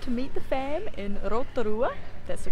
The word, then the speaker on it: Rotorua: I decided to meet the fam in Rotorua.